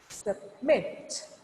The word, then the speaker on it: submit: So, before the syllable stress, your voice should be low. At syllable stress, you have to stop it. You have to stop your voice. Then, after syllable stress, you have to raise your voice up.